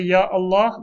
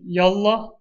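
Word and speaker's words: يا الله: Allah when you say Ya Allah the Hamza is pronounced sometimes people say yallah that's incorrect it's not to be shortened so everywhere else this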